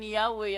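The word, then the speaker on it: Yahweh: translation February 9, 1950 while inclining to view the pronunciation Yahwe as the more correct way we have retained the form Jehovah because of people's familiarity with it since the 14th century gibulo 14th century ito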